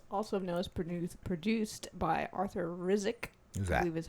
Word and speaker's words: Arthur Rizk: did it was also known as produced by Arthur Rizk is how you say his name he's a